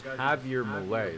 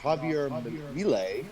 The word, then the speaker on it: Javier Milei: Okay, so the guy's name is Javier Milei. That's right. So J is pronounced Ha in Mexican.